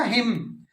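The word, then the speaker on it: hymn: हिम, भजन, भजन जो गाते हो ना, हिम, हिमन नहीं होता, हिम।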